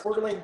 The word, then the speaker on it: Coeur d'Alene: I know it's hard to pronounce. Coeur d'Alene Press.